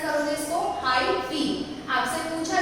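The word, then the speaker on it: hyphae: कैसे प्रोनाउंस करोगे इसको, हाइफी।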